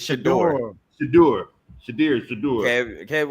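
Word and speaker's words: Shedeur: Shruder. How you say it? It's Shador.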